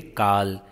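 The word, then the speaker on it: Karl: Here R is silent, we say Carl.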